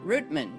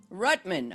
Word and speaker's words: Rutman: guest uh Fred Rutman did I say your last name right Fred no but you came close okay great it's Rutman okay I don't know I guess I pronounced it a Dutch way because of my Dutch Heritage uh but welcome welcome